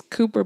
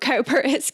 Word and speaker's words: Cowper: that told me that it's not calpers cooper yeah i would have definitely said calper i i have this